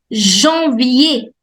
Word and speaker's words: Janvier: Janvier. Janvier. Janvier. We do not pronounce the last R.